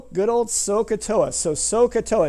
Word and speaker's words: SOHCAHTOA: Good old SOHCAHTOA. So, SOHCAHTOA, it's spelled like this.